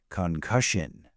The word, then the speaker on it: concussion: Concussion. Three syllables with the stress firmly on the second.